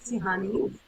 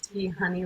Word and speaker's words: Tiihane: well my name is tihani um for anybody who gets overwhelmed by that pronunciation it's tea honey like if you think of tea honey my name is Tahitian